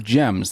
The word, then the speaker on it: Gemns: Today's guest is Danielle Hicks from Gems. That's Gems with a silent N.